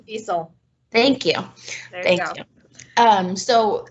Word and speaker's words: Wiesel: Night, and I'm probably going to say the name wrong, so if somebody wants to say his name for me. Anyone? Night? Ellie Weiss? Wiesel.